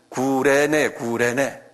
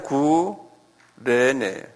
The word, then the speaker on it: 구레네: 영어로는 사이린 그런데 이게 그대로 부르면 뭐냐면 구레네. 여기 써놨잖아요? 그걸 읽으면 그냥 구레네. 이게 Y가 U자로 발음하는 경우도 있어요.